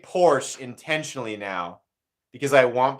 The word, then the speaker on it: Porsche: Yeah, Slicey says, Porsche is what always gets me. It's Porsche. It's the man's name. You know what's funny is that's kind of an in-between thing. Because I say Porsche intentionally now because I want people to correct me.